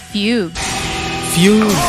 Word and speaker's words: fugue: Hypnotic fugue. Fugue pala yun. Yung pronunciation.